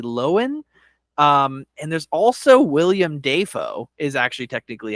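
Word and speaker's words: Willem Dafoe: of Lohan Lindsay loen um and there's also William Deo is actually technically how you pronounce that um and uh Jean Carlo Esposito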